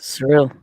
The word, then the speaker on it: Seril: Seril. Did I say it right? Yes. Seril.